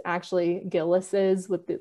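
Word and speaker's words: Gilles: the book is that a lot of people pronounce it Gillies but that's not correct it's it's actually gillis's with the like the apostrophe at the end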